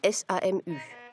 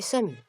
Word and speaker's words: SAMU: Le service d'assistance médicale d'urgence, le Notdienst, ne se prononce pas SAMU, mais SAMU.